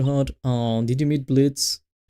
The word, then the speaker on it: Blitzo: Blitz. Well, the O is silent, so that's why you say Blitz. But it's written like Blitzo.